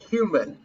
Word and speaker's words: human: is here is a human human if you say human what happened human starts with a consonant or with a vowel a consonant it's a consonant but in this case the h is pronounced because human there is